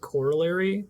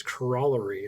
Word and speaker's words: corollary: person say the word, we pronounce it corollary in the US, and Simon on Cracking the Crypto says corollary, and I was like, what the fuck is he saying?